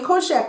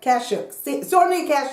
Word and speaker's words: Kashuk: sponge, and the Eco Tools, and the Sonia Koshak one. What is it? Why can't I pronounce her name? Sonia Kashuk.